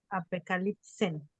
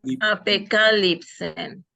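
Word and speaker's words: ἀπεκάλυψεν: Apocalipsen. Apocalipsen. El acento está en la A. Apocalipsen.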